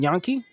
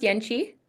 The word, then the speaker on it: Yenchi: Is it Yankee? It's pronounced Yenchi. Yenchi.